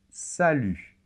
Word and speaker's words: salut: pu très bien et attention la lettre t final ne se prononcent pas et ça c'est très